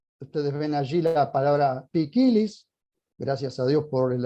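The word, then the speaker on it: ποικίλος: Miren ustedes, allí está la palabra que se lee poikilos, pero se pronuncia pikilis.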